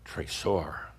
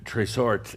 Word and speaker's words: trésor: We've talked about a similar term in Kihak, trésor, without the T. Trésor is the French word for treasure. And trésort is a variation of trésor, but trésort with a T simply means no doubt, no doubt.